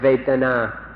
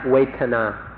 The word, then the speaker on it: Vedana: in fact, to remember this word Vedana, or in Thai, Vetana. It's spelled in Roman letters V-E-D-A-N-A, Vedana or Vetana.